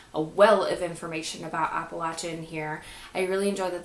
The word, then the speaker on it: Appalachian: live in the Appalachian Mountains and yes it's pronounced Appalachian and I live in a rural area and